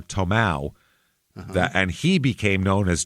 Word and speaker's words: Tomah: it um they they they pronounced the name Toma or t or tomow and he became known